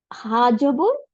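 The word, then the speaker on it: هٰذَا: এরপরে দেখি আমি নোটের মধ্যে আর কি লিখছে হা জবর জা আলিফ জবর উচ্চারণটা কি হবে হাজা হাজা তাই না এরকম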